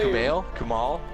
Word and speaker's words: Kumail Nanjiani: So Kuman is Plimpton, an ostrich. He Stop! voices an Stop! ostrich. Please stop! Stop trying to say his name. Kuman is not his name. Kumail? Kumail Nanjiani.